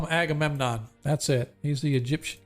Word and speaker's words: Agamemnon: all right let me add that to our list angry a government what's up brother we pronounce it Angry Angry okay no you had it right I call him Agamemnon that's it he's the Egyptian king thanks brother